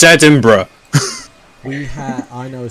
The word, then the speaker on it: Edinburgh: now because i've heard a lot of americans pronounce it is edinboro it's edinburgh we have i know a story of a